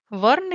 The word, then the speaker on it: वर्ण: Varna you can pronounce as V-A-R, Var and Ena, Varna.